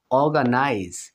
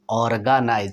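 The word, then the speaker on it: organize: এরপরে দেখুন বন্ধুরা অর্গানাইজ, এখানে আরটা হাফ উচ্চারিত হবে না, হবে এরকম অর্গানাইজ। এখানে দেখুন অর্গানাইজ, এখানে আপনি আর স্পষ্ট উচ্চারণ করবেন।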